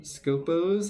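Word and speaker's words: Skopós: So if you're like me, we're going to have Scopos, I believe is how it's pronounced. There's a little bit of an accent on the second O, so I'm not sure, but they have two like little drone things.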